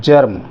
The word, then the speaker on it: germ: जैसे ये है जर्म, GERM, जर्म या जैम। अब ये जर्म लिखा है हमने, है तो जी, लेकिन इसका उच्चारण गा ना होकर जा आ गया, जर्म।